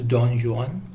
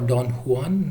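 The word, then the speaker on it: Don Juan: very famous for is Don John or Don one whichever way you pronounce it do NJ au and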